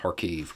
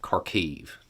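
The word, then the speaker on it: Kharkiv: that is around uh harkev karkiv depending on your preferred pronunciation there um ukrainian forces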